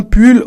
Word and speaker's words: pull: Isa tu peux répéter un pull attention faut bien dire le U ok il ça vas-y